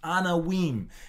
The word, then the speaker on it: Anawim: Pronounced Anawim.